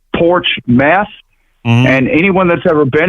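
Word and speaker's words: Portsmouth: It actually is pronounced like two words in English, porch meth, and anyone that's ever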